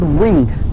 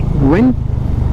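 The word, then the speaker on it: Vinh: So today we are going to a city called Binh. It's V-I-N-H, Binh. I think they pronounce it as Binh.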